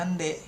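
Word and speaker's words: なんで: Nah, ini itu dia dipadankan I-nya jadi hilang enggak dibaca nani nani ji gitu kan harusnya atau nani to gitu kan bersama siapa atau Nani D. Nandide kan maksudnya dengan apa gitu kan, tapi dibacanya nande gitu, Nanto atau nanji.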